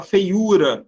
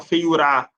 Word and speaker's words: feiura: Você fala feiura, você não fala feiurá, ou nem feiura.